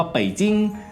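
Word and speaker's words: 北京: คือ ปักกิ่ง หรือ ว่า ภาษา จีน กลาง ออก เสียง ว่า เป่จิ๊ง แปล ว่า เมือง หลวง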